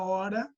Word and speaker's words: hora: Na palavra hora, você tem a letra H, mas ela não é pronunciada.